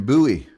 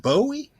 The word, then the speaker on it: Bowie: boy out there in Buoy you know where it is is it near Dallas oh everybody know where buoy is you don't pronounce it Bowie okay well buoy knife